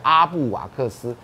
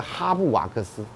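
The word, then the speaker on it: Halbwachs: 不知道，他说不过根据法国的原则。H 不发音，啊，所以要念 up，然后这个呢大概念 wax，所以叫阿布瓦克斯。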